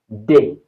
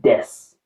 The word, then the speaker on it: des: En français, nous avons un, une, des. Un, get the pronunciation correct also. Un, un. Then we have une, une. We have des. It's not des. It's des.